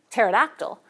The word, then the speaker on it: pterodactyl: When it comes at the beginning of a borrowed word, like pterodactyl, we just delete the P altogether, since English doesn't allow two stops in a syllable onset.